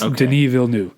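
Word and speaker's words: Denis Villeneuve: almost okay Deni V you could probably get away with saying vnu but I it's Deni vnu all right cool and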